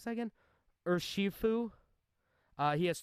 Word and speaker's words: Urshifu: It evolves into Urshifu, or what was that? How do we pronounce that again? Urshifu.